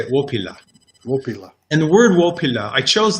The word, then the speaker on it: Wopila: first word is um depending on your inclination it's either willpila or as the lakota would say opilla and the word i